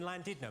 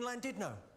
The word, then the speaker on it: Llandudno: In Wales, the double L is pronounced with a C."